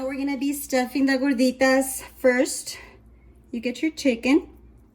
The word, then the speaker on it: gorditas: This is how it's supposed to look like, the gorditas, or that's how you pronounce it? Yes, gorditas.